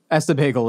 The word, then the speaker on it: Ess-a-Bagel: Essa Bagel in New York. It's Issa it's Bagel.